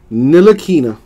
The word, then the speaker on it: Ntilikina: Frank Ntilikina. I think the T is silent.